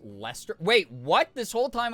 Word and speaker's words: Leicester: Leicester, which is pronounced Lester.